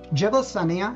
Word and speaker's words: Jebel Saniya: Jebel Sania and Jebel Huriba, and that's essentially the way you would pronounce them, etymologically, meaning considering how languages shift over time, those are plainly the equivalents of Sinai and Horeb.